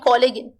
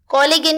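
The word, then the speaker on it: collagen: तो इसका right answer है ए यानी कोलेजन। कोलेजन या कोलेजन दोनों प्रोनाउंसिएशन सही है।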